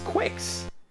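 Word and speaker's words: Qix: Oh, it's Oh, it's quicks. And yeah, I know it's it's supposed to be pronounced kicks, but if it's a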